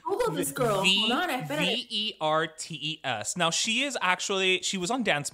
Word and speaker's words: Vertes: So do you know who Kendall Verdes is? I'm totally mispronouncing her last name, I'm sure.